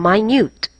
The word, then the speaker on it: minute: can you bear it minute differs from minute the latter rhymes with cute and mute but but cut nut